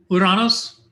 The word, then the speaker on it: Uranus: would do it uh uranus and yes i use the greek pronunciation because we've heard all the jokes uh its orbit is